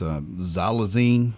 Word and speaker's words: xylazine: It's xylazine, I believe is how you pronounce it.